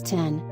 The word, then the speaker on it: X: But that doesn't work where X is pronounced as 10.